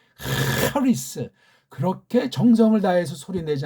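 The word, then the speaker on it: χάρις: 이 발음도 헤세드, 하리스.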